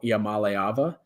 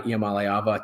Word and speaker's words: Iamaleava: And it is believed to be centered around their star, now rising sophomore quarterback, Nico Iamaleava. I think I said that right. Looked up a pronunciation before this because I when you read the guy's name, you don't know how to say it.